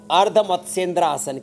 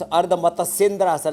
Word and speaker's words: अर्ध मत्स्येंद्रासन: इसको बोलते हैं अर्ध मत्स्येंद्रासन। क्या? हाँ, कुछ अर्ध मत्स्येंद्रासन ऐसे नहीं, वो अशुद्ध उच्चारण। अर्ध मत्स्येंद्रासन ऐसे करना ये।